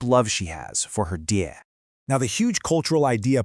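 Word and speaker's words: 爹: You pronounce it diē. It's this warm, really affectionate term for dad.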